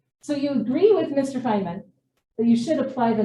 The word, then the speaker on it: Feynman: But I think it's sort of going off of Feynman's or Steiner? Feynman. Feynman? Excuse me. And you know I mispronounce things.